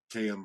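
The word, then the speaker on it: Kayem: I know it's k a yeem but it's pronounced km so they have a natural casing all not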